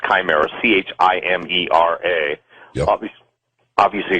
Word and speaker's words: chimera: but the word chimera some people pronounce that shimira a pronounced chimera ch Amer a nabis obviously excuse me John